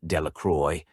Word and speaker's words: Delacroix: Bobby and Harry Jones and Dickie Delacroix, the villagers pronounced this name Delacroix, eventually made a great